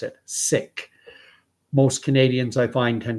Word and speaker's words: Sikh: individuals of that faith, that's the way they pronounce it, Sikh. Most Canadians, I find, tend to pronounce it Sikh. So I'll say Sikh. I'll go with the majority. But I know that it is pronounced properly Sikh.